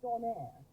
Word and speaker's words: Donair: But then you've got the Donair kebab, which is spelled Donair. Sounds like an airline, I know, but it's a